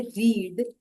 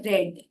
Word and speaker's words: read: क्योंकि जैसे आप देखेंगे वर्ब है रीड उसका पास्ट टेंस हम स्पेलिंग तो वही लिखते है आर ई ए डी पर बोलते वक्त हम बोलते हैं रेड रीड हो जाता है पास्ट टेंस रेड पर यहां पर जब